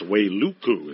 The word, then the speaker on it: Wailuku: I think it's Wailuku is how he pronounces his hometown.